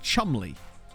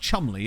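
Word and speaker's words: Cholmondeley: get this right Stewie is it Chumley I think it's pronounced Chumley isn't it it's like that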